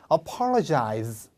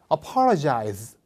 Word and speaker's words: apologize: apologize. 어폴로가 아니고 약간 약간 파와 퍼의 사이? 펄. 다 같이요? apologize.